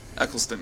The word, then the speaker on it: Eccleston: kind of scared me this weekend and then pronounce that name for me Christopher Eccleston Eccleston yeah there it is I didn't know he